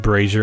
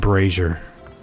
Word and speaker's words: brazier: Yes, I pronounce it brazier and brazier. I know that you can pronounce it two separate ways. See, I'm not dumb. Brazier and braier. Americanized version versus non-Americanized. Place the fuel and charcoal near the Okay.